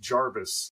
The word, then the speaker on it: Jervis: I'm pretty sure that his name was often pronounced Jarvis at the time, like as if it had an A. In fact, sometimes it was spelled that way. I I'm trying to It's hard to figure out how things are pronounced in the 18th century because the recordings of what they said, but we think it might have been Jarvis.